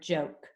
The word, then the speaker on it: joke: a closed syllable and what else is special about the word joke watch as i talk about watch as i tap it out j o joke did i make the e sound no no so what does that tell us about that e that means it's a silent e right yeah so if it's a silent e then that o becomes a long o so when we mark